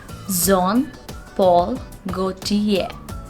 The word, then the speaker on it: Jean Paul Gaultier: a luxury brand and the correct pronunciation of this word is going to be zon paul gautier go to ye the pronunciation of this word is john it's not good here we are not going to pronounce the sound r over here it's zom paul gautier john paul go tear